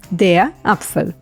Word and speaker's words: Apfel: blowing out air and the e at the end gets silent so we only hear the L de up the meaning